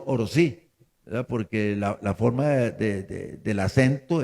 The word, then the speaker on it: Orosi: indígena estamos de acuerdo nosotros es oro sí porque la forma del acento es oro sí y oro cae también